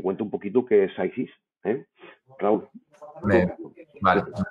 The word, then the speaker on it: PCYSYS: Y venga, ¿quién es SiSys? Que así se pronuncia, o así dicen ellos que se pronuncia. Lo hemos oído de diferentes formas y algunas muy divertidas. Ayer, en una presentación con un cliente, me dice uno: Pixis.